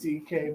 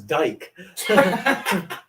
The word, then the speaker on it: Dike: half it's not even well it's pronounced DK but obviously was a dep th is that what you thought it was and that's what I thought yeah you thought it was Dyke goes out the window yeah I said a